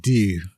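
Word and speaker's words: Deux: that's part D that that's a French word it's pronounced do Hot Shots part do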